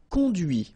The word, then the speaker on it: conduit: And that's when you hear the difference between conduit, because remember, final T is not pronounced, conduit, here, and then the feminine, conduite.